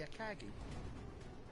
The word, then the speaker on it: Akagi: The Marga's sister ship was the Akagi. Akagi. Or Akagi, the way we pronounce it.